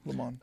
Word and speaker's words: Le Monde: The Atlantic, The Texas Tribune, Gannett, Washington Monthly, Le Monde, is that how you say it? Yeah, Le Monde.